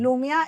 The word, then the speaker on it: Lumia: Lumia, así tal cual como se escribe.